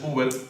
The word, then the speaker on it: Hubert: Así que mi nombre es Uber, pero mi nombre es con H. O sea, se dice igual, pero se escribe diferente.